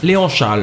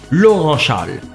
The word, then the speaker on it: Léon Charles: Mais écoutez, il a mal prononcé Léon Charles en disant Laurent Charles.